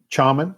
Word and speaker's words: Chaman: How do you pronounce it? Chaman? Shaman Island? Chaman Island, a Texas ghost story.